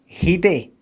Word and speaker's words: Headey: You pronounce her name Lena Headey. And that's her who has said that. Not Lena Headey or anything like that. Lena Headey. She says it.